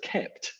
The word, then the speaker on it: kpt: open source project called kept it's spelled kpt but pronounced kept which is basically a